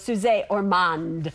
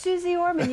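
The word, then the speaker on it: Suze Orman: Well, it's not so much misspelled, it's that it's mispronounced. Everybody goes, Suze Ormond, or whatever. And I'm like, going, it's Suze Ormond.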